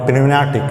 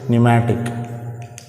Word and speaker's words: pneumatic: P is silent, not pneumatic, it is pneumatic.